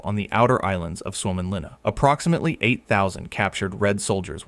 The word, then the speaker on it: Suomenlinna: Pronounced S-W-O-M-E-N L-I-N-N-A. Suomenlinna is a sea fortress on eight islands just off the coast of Helsinki.